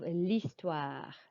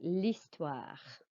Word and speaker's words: l'histoire: You do not pronounce the H of l'histoire. It's like it's just an I, l'histoire.